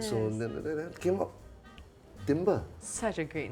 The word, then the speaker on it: Timbre: So then it came up, Timbre. Such a great name. So wait a minute, 2 syllables. Yeah. Sounds like a word. Yeah. It's okay if you call it timber, the other, like wood, it's okay, as long as you come.